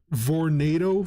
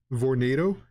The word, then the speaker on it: Vornado: Like back in Vegas, I used to have this Vornado fan. It's like tornado but spelled with a V. Vornado.